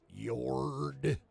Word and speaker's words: Yord: Anywho, and then Yord, that's how I say his name.